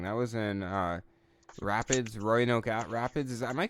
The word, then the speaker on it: Roanoke Rapids: youtube or something that was in uh rapids royal oak rapids is am i pronouncing it correctly yeah roanoke rapids rapids that was a great match like yeah